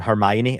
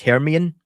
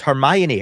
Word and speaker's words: Hermione: I always used to pronounce um Hermione as herian because I never heard her.